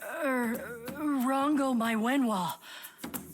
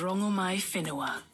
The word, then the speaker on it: Rongomaiwhenua: Goddess Rango Mywen, what do I call you? My name alone will suffice. My name is Rango My Fininoa. Oh, we've been mispronouncing you the whole time.